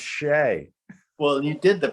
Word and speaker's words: Shea: my gosh really but this looks like it says chess and they're like nope it's pronounced shay well you did the